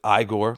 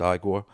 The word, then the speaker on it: Igor: Frederick Frankenstein, as played by Gene Wilder, with Igor, no, it's pronounced Igor, played by Marty Feldman,